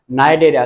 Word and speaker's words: Cnidaria: हम बोलते हैं फाइलम निद्रा सी जो है वो साइलेंट एरिया नहीं होगा ये